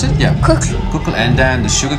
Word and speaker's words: Kukl: One thing about your music is that you used to play in Kukl, how do you pronounce it? Yeah. Kukl.